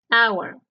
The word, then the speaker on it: hour: and Por qué Porque la H de la segunda columna es una H muda en cambio la H